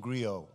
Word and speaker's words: griot: spirit of the African griot gr IOT the the T is silent and the griot would